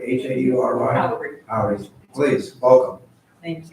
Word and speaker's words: Haury: And next is, is it pronounced Haury, H-A-U-R-Y? Haury. Haury, please, welcome. Thank you very much. I'm Howry, and I live at 801 Middlefield Court in Town and Country with my husband.